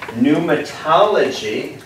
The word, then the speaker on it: pneumatology: the study of mary pneumatology spelled with a p n almost like pneumonia pneumatology is the study